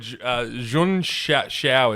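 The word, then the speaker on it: Junção: No, it's it's actually called Jeia it's pronounced.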